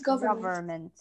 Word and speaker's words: government: state govern government government because the N right here is silent so government he he led the